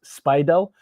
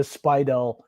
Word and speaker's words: Speidel: I think that's how it's pronounced, Speidel.